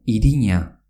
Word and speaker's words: irina: Irina, que se escribe I-R-I-N-A, que quiere decir harina, se pronuncia iriña, aunque se escriba con una N.